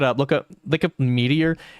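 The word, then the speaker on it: Meteora: If you guys ever look it up, look up look up Meteor. M E T E O R A Mera is what it's spelled.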